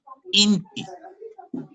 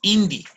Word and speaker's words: inti: Inti, que también decimos indi. Aquí en el norte también decimos indi. Y las dos son correctas.